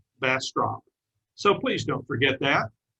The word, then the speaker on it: Bastrop: That's called a bass drop. And if you can substitute a T for the D, you've got it. Bastrop, Bastrop.